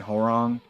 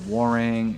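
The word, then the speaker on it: Hwoarang: My family and I grew up saying Horong, but then I heard Warang, and then I've heard other stuff. I think Warang is the appropriate way to say his name. Like have an H silent.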